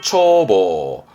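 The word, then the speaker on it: 眺望: 다음, 눈목자가 보이면 눈으로 바라보는, 조망하는 발음은 초보. 초보.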